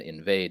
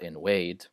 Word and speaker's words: invade: Words spelled with a V are always pronounced with a V sound and not with a W sound, the W sound. So it's Viking, not Viking, and very, not wary, and invade, not invade.